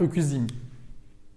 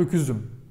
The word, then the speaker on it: öküzüm: Öküz ends in ü, so it is followed by but not öküzim. Tamam? Ben öküzim. Yanlış, incorrect. Ben öküzüm. Tamam? Because it ends in round, should be followed with round, round, round.